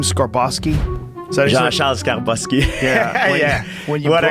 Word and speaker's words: Skarbowski: Skarbowski.